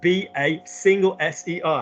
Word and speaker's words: baser: be based, which is B-A-S-E-R. How do we pronounce that word? Baser. Good. Don't drag it on. Don't make it baser because it becomes an S. Baser. It needs to be shorter.